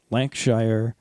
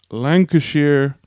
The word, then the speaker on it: Lancashire: to xi lang oh I'm gonna pronounce this right lank Shire I think you've lost a liar's it's uh it's Lancashire Fusiliers I think I think